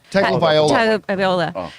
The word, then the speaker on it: Tagovailoa: Tegvolia? Yeah. Tagovailoa.